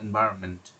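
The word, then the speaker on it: environment: এনভায়রনমেন্ট এভাবে যখন উচ্চারণ হয়, এখানে এনটা অনেক সময় আপনি মানে উচ্চারণে আসে না। আপনি যদি উচ্চারণ শুনে এটার উচ্চারণ লিখেন, তাহলে এনভায়রনমেন্ট, আপনার এনটা বাদ চলে যেতে পারে।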